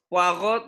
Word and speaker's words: Poirot: Poirot, tau nggak? Poirot. Hercule Poirot. Hah? Hercule Poirot. Apa tuh? Poirot tulisannya. Poirot. Poirot. Bacanya Poirot. Poirot. Hercule Poirot. Baru tahu aku. Hercule Poirot. Enggak lah. T-nya enggak disebut.